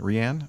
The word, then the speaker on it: Rhian: and his wife Rihanna I guess that's the way you pronounce r h i a n Rianne okay brought the case